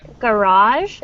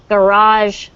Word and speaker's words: garage: broken so the word garage the emphasis the stress is on the second syllable so it's garage sales okay garage exactly